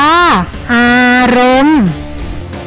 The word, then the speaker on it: อารมณ์: มนุษย์ อ่าน ว่า มนุษย์ อารมณ์ อ่าน ว่า อารมณ์ มี รูป ดำ ๆ